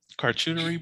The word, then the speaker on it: charcuterie: She said a charcuterie board. There we go. That's how you pronounce that fucking word.